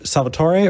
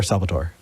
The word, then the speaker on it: Salvatore: Is it Salvatore or Salvatore or Salvatore? So the Italian pronunciation is Salvatore, or Salvatore, but I always joke that that's too many syllables for the South, and most, yeah. Okay. So Salvatore is fine.